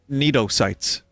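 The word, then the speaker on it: cnidocytes: float by sneezo sites Neto sites the C is silent aw it's unnecessary C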